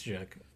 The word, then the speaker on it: Jacq: It's Jack.